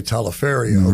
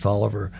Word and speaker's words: Taliaferro: Or as some people say, Taliaferro, right? But it's Tolliver, pronounced Tolliver.